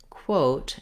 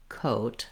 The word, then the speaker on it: quote: So, for example, for some people, they're trying to say quote, and it sounds like coat because that W sound, the W sound, drops off.